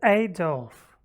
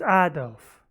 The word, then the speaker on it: Adolf: who i always hear say adolf i've heard adolf and adolf in russian we speak ado leaf adolf and